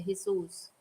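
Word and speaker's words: Jesús: Yeah, but we don't say it as Jesus. We say it as the Spanish way, Jesus.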